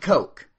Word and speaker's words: Koch: you buy any of these you're supporting the cokes that's K C should say cotch so people